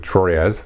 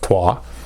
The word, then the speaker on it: Troyes: The next one here is Troyes, which is spelled from an English American perspective, Troyes. It's pronounced Troyes.